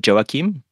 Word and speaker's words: Joachim: So by friends, I'm really called Joachim, but that's...